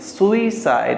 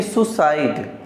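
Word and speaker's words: suicide: सुइसाइड, ऐसा नहीं कि सुसाइड, सुसाइड बोलेंगे गलत हो जाएगा, सुसाइड नहीं होता ये, सुइसाइड। सुइसाइड, ये जो आई है ना, SUI, तो ये जो आई है इसका थोड़ा सा उच्चारण डालना पड़ता है। देखिए, SU से सु, आई से ई, सुइसाइड, सुइसाइड, ये ख्याल रखिएगा।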